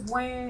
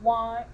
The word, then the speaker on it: Wan: so my name is wayne it's pronounced like man but with a w not one don't say yeah hey